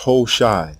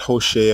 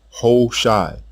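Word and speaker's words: הושע: The king's name is pronounced Ho-Shai, not Hoshea or Hawashai. Ho-Shai.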